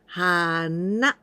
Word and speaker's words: 花: In the intonation, 花。 Na is higher pitch. Hana. Not hana, okay? Hana.